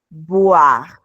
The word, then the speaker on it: boire: La OI suena como UA. Voir, voir. Y bueno, en este caso también tenemos la mezcla de la OI, por lo tanto esto se va a pronunciar como UA, pero tenemos una B, no una V, entonces esto es boire.